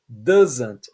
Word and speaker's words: doesn't: like he doesn't like lembra da pronúncia dessa palavra doesn't esse S vai ter som de z doesn't he doesn't like I